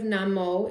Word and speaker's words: Namo: The first part of Namo is short and rhymes with hum.